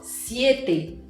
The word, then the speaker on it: siete: Em português a gente fala 7 com E aberto. Em espanhol, siete. E ele vem te lembrar que o som do E em espanhol é sempre fechado, é sempre E.